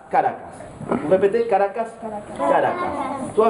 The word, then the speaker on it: Caracas: Pas Caracas, Caracas.